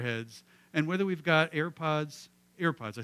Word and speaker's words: AirPods: and whether we've got air pods airpods I said it right right I always say earpods and I know that's not right they're airpods um I was waiting for